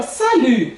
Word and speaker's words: salut: Lembrando que esse U aqui, né? Que a gente vai pronunciar ele com o som de U, que é a boquinha bem pequenininha assim, falando I. U, né? Salut. Aí na fonética, como é que eu vou escrever isso aqui? Salut. Né? Esse U com boquinha de I. E observa que o T aqui, eu não pronunciei ele. Perceberam? Não pronunciei. Ele é mudo.